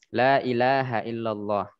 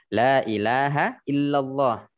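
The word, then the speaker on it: لا إله إلا الله: katakan Riskan Ambillah contoh Lailahaillallah yang betul seperti yang saya bacakan barusan lailahailallah la panjang ilaha illa nya yang panjang selainnya pendek illallah Ila itu berhubung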